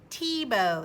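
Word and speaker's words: Thiebaud: it what's this t plus bow you're right Tebow that's how you pronounce his name his name is Wayne Tebow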